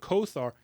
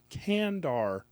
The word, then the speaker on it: Kandar: blade from last episode kandar this is by Kenneth bulmer kandar definitely not Conan it's not Conan kandar say it right it's not Kar kandar oh my gosh it's